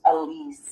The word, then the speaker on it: Elise: spelled in a really odd way, but it's actually pronounced Elise. And I've always been called Alex.